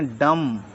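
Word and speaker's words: dumb: एम बी को बोलेंगे डम डीयू एमई डम यानी कि गूंगा टी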